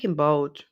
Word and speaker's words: Imbolc: It's spelt Imbolc, but Imbolc and I think Imbolg is another way of saying it.